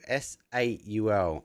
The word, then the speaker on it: S8UL: S8UL. S8UL. Okay, cool. Plus 8-bit is okay. Soul plus 8-bit. So S8UL.